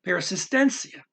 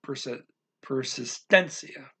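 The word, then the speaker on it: persistência: Okay, so de las means them with persistence, con persistencia. Okay, and you do have to pronounce that little mark over there. Makes you have to pronounce the persistencia. You pronounce that louder.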